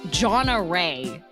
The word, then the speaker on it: Gonorrhea: My teacher friend had a student in her class named Gonorrhea, pronounced like Jonna Ray.